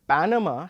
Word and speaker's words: Panama: Say for example, the word banana has the stress on the second syllable, na, and the word Panama has the stress on the first syllable, Panama.